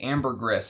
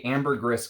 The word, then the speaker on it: ambergris: Now, Amber Cologne is a ambergris fragrance, and according to a ambergris collector, you are supposed to say the S. It's not ambergris. It's ambergris. Is the proper way to say it.